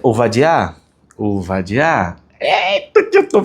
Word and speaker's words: Ovadia: Primeiro, tá aí, ó, na pronúncia ovadiar.